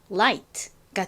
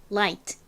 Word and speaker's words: light: 그래서 합치면 라이가 되겠죠 다음에 뒤를 봤더니 gh의 뒤에 t가 왔어요이 경우 보통 gh는 무궁이다라고 말씀을 드렸었죠 소리가 나지 않아요 그러니까이 gh는 빼고 나머지